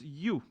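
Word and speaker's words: ewe: so I have written the other sound is pronounced you it's pronounced you this war is a pronounce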